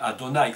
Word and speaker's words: Adonai: Le nom que vous avez devant vous ici, qui est donc le nom sublime, le nom, ce qu'on appelle le nom imprononçable, et qui se dit Adonai en hébreu, mais nous l'appelons, nous, l'Éternel, Yahvé.